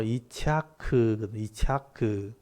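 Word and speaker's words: יִצְחָק: 3절에 보시면 그 아들 이름을 이삭이라, 히브리어 발음으로 이차크, 웃음이란 뜻입니다.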